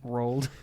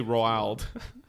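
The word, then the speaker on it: Roald: Tomatoes had uh oh uhoh what's his name rolled okay whoa I always it's a huge difference I I always mispronounce that name in my head thank you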